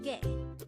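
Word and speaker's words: 개: The Korean term for dog is ge. Again, it's ge. This is composed of just one syllable.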